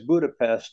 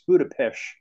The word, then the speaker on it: Budapest: But the S in their language is pronounced like an SH.